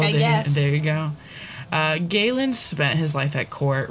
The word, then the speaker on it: Galen: And earlier I pronounced it Galen because I'm in the Midwest, but it's Galen.